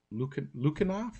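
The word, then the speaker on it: Lukianoff: So I believe their last names are pronounced Haight and Lukanoff, or uh, Okay.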